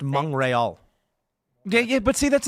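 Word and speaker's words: Montréal: at the death and it's pronounced M rol yeah yeah but see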